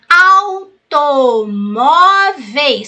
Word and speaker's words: automóveis: a última é oxítona automóveis sílaba tônica penúltima ela é paroxítona e próximo proparoxítona viu